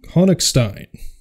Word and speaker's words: Honigstein: Noise by Raphael Hong honstein you tell me if I said that right because I'm pretty sure he's German yeah uh it's probably pronounced honstein honstein yeah right we're gonna